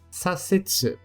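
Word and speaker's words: させつ: Sa, visto nas palavras sasetsu. Sasetsu, que significa virar à esquerda, visto muito em placas e outdoors em meio ao trânsito.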